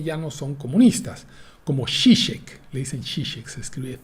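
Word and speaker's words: Žižek: no son disque ya no son comunistas como shishe le dicen shishe se escribe tiek entonces shish aparece edita un libro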